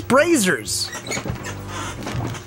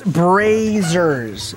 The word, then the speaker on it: Brazzers: face Derek I swear if you pronounce brazzers wrong again it's brazzers it's brazzers it's because they're being very brazen with the booty booty brazen [ __